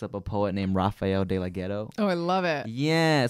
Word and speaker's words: DeLaGhetto: DeLaGhetto, yeah.